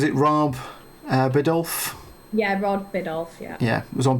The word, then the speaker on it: Biddulph: Yeah, Rod Biddulph, yeah.